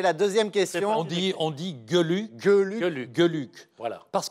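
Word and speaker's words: Geluck: On dit Gueluc, Gueluc, Gueluc, Gueluc.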